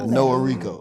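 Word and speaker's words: Noahreko: that's the first in middle or that's like no Rico is Noah Rico is one word yeah yeah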